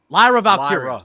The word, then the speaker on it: Lyra Valkyria: Lyra Valkyria, was how you say her name? Lyra Valkyria. Sorry.